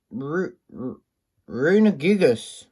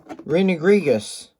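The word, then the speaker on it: Runerigus: and then we got a gallerian rooney geek rooney gigas or something no not gigas rene griegas that's right glaring rooney geek yeah apologies for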